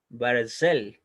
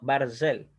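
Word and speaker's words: ברזל: va a sonar vocal por eso se pronuncia barcel y no parece les ya no parecer sino barzel bueno eso es lo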